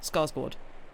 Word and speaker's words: Skarsgård: All the English had subtitles, but when Alexander is it Skarsgård or Skarsgård? Because I've seen the A with the O above it, and have heard people pronounce it as a sort of or kind of sound. Anyway, the first one, Skarsgård.